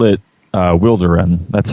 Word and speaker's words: Wilderun: Um, well, we we usually call it uh Wilderin. That's how that's how we pronounce it.